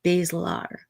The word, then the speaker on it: basilar: And she corrected him gently and said, basilar, skull fracture.